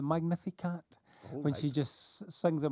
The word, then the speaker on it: Magnificat: It's from you know Mary's prayer when she just I think it's pronounced the Magnificat.